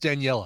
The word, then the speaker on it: Daniela: All right, so yes, Daniela Andrade, I don't know how her last name is pronounced, but her first name is pronounced Daniela.